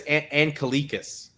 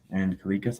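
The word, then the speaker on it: Anglickas: Julius Angelikas. Angelikas.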